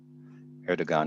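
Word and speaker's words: Erdoğan: Erdogan is the leader of Erdogan is how you pronounce his name, AJ.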